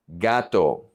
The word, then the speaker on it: gato: First, the G, GA, GO, and GU are going to be G, G, gato, gato, cat.